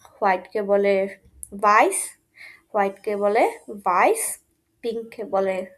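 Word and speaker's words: weiß: উচ্চারণটা একটু কঠিন মনে হতে পারে, কিন্তু উচ্চারণটা খুবই সহজ, শুয়ার্স। দেন হোয়াইট কালারকে বলে হচ্ছে ভাইস, ভাইস, ভাইস, ভাইস।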